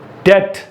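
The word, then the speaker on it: debt: Let's begin again, climb, कोम, क्रम, डेट। यस, यहां पर बहुत सारे लोग डेप्ट बोलते हैं, इसको हम लोग क्या बोलेंगे, डेट। यहां पर डम, बी नहीं आएगा, ठीक है।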